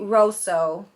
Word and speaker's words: Rosso: It says Stavali Sweet Rosso, or Rosso, if I'm saying that right.